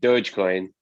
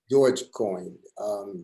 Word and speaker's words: Dogecoin: I mean, this dog coin or Dodge coin, however you pronounce it. Dogecoin. Dogecoin.